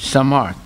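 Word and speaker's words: Samarth: Samart. Okay. What does it mean? Powerful. Okay. That's a Sanskrit name? Yeah, okay. Samart.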